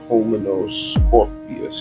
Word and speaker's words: Pulmonoscorpius: I had to get myself a Pulmonoscorpius. I mean, is that how? Pulmonoscorpius. Yeah, I did pronounce it right.